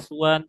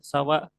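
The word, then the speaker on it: سوى: Ghairi dan siwa bilogot ya, siwa ini banyak bahasanya, banyak banyak bahasanya, banyak cara bacanya, bisa siwa, suwan, sawa, tergantung dialek dari daerahnya.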